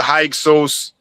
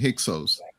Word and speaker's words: Hyksos: So I would say that, so Heka Kesut, which was more like kind of like the original pronunciation, it means foreign rulers. And then it was Manetho who started saying Hyksos.